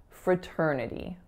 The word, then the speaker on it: fraternity: join a given fraternity so fraternity has four syllables the first one is schwa the second one is our winner terr another schwa and then alveolar flap going into e fraternity I'll mention as well